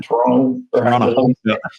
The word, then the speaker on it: Toronto: It's all one syllable, Toronto. Yeah.